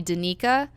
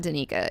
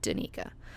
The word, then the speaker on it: Danica: sounds like cool but if somebody tries to call me Danica I'm like no bro it's not Danica its Danica but there are in fact girls who do use the pronunciation de Nika it's just not me it's just not me